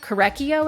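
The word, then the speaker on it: Korekiyo: Korekio is how she pronounced it.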